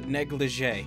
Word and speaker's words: negligee: up everyone kudex is here welcome back to negligee that's how you pronounce it I knew I heard or seen